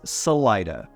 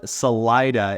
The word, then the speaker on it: Salida: I cringed a little when I first heard Salida instead of Salida which is what I'm used to coming from California and there's Salinas and Salida andigo long story short it's just pronounced a little bit differently here and as a side